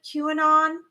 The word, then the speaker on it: QAnon: So QAnon, is that how you say QAnon? The QAnon? A lot of that is disclosing again. I'm not really super familiar with QAnon. That's how you say it.